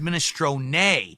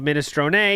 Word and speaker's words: minestrone: It's a silent E, just like provolone.